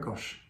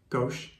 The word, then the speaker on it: gauche: it can be wet gosh gosh gauche yeah cut that party off yeah no because that needs to go how do you say how do you say you just don't say it g-a-u-c-h-e see how she says